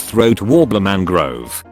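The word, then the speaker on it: Raymond Luxury-Yacht: hours of the year you see it's spelled raymond luxury yacht but it's pronounced throat warbler mangrove respect should be earned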